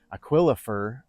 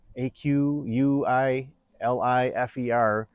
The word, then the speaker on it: Aquilifer: And I hope I am pronouncing this right, but it's spelled like Aquilifer. Aqui Li Fer.